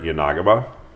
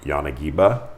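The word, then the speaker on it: 柳刃: This is going to be your Yanagaba, or Yanagiba, depending on how you pronounce it.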